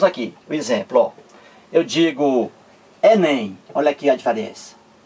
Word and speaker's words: Enem: eu digo assim ó Enem eu não digo é n é m não eu digo Enem Olha aí eu pronuncio